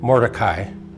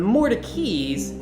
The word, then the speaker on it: Mordecai: that's how it's pronounced the more turkeys actually changed the pronunciation of their name in the early 1800s we're not sure an exact reason why but moses more turkey at some point when he moved to Raleigh and married into the lane family changed pronunciation from mordecai to more turkey and the more turkeys